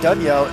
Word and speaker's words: Daniel: In Brazil, we like to say Daniel for Daniel.